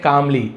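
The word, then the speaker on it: calmly: The sage replied कामली, L silent है, संत ने शांति से उत्तर दिया।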